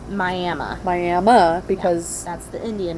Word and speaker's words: Miami: if you're from the area everyone knows it's pronounced miami miami because that's the indian name yes that's